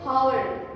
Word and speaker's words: hour: H एक consonant है, बट जब इसकी प्रोनाउंसिएशन hour हम प्रोनाउंस करते हैं तो उसमें अ की साउंड आती है।